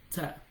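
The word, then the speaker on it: ت: Like for instance, ta and dal. Ta, da, ta. So for ta, the tip of your tongue is going to touch the front incisors, the inner part of the incisors tip.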